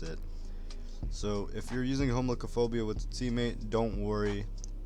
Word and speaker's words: Homichlophobia: For those who cannot pronounce it, it's Homichlophobia.